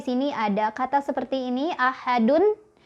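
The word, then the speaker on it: أحد: ada kata seperti ini ahadun. Ketika berhenti kan dunnya jadi wakaf, jadi mati ya, jadi sukun, maka kita bacanya jadi qalqalah kubro. Ahad, ahad, gitu ya, mantul. Yang salah misal ahad, nggak mantul ya.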